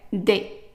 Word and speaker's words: des: And every time you have ES attached to only one letter, it's pronounced as a short A. So what I mean by that is like if you have a word that has only 3 letters, one consonant and then ES. So the ES would be pronounced as a short A, and it's not A, it's just A.